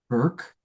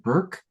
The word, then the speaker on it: Bourke: So our beloved Hannah Burke um spelled like Bourke but spelled but pronounced like Burke is going to close us out this evening.